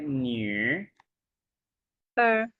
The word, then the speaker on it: 女儿: इसको हम कैसे प्रोनाउंस करते हैं? न्यू अर न्यू न्यू अर अर second one न्यू अर